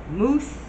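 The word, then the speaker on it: Muse: I want to say mouse, but moose. Mellow moose.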